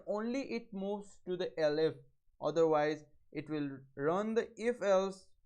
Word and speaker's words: elif: For else if we'll write elif, this is pronounced as elif, number is equal to 20.